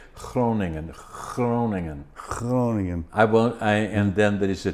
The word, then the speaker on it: Groningen: If I'm pronouncing that right. I loved it. How do you say what province? Oof. What did you say? Where did you work? Groningen. Yeah, now you're doing it right.